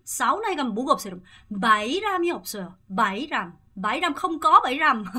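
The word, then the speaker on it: bảy: 바이. 여러분 바이 아니고요. 바이. 아가 짧고 이의 강세. 바이.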